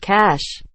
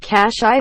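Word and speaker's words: cache: nuts cash generally means a hiding place pronounced cash people say cash i all the time library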